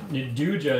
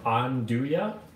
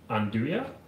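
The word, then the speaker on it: 'nduja: now on oh no naduja is pronounced on do ya on do ya okay thank you aaron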